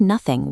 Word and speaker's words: nothing: In Elizabethan England, the word nothing was pronounced identically to the word noting.